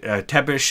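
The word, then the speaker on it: Țepeș: I read somewhere, I don't know if this is true or not, that Vlad III, Vlad Tepish, as he's commonly known, and I don't remember the origin of that word.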